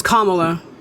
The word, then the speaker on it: Kamala: so you have I want to say your name wrong Kamala right it's Kamala Kamala so you have Kamala she has she's